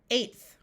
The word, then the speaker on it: eighth: TH in this word will say th, eighth.